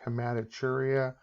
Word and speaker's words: hematuria: Even though it looks like a T, it's pronounced CH, hematuria.